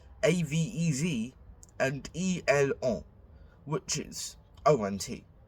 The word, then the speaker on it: ont: Nous avons, avons, vous avez, avez, and on, which is ont. Do not pronounce the T, no matter what.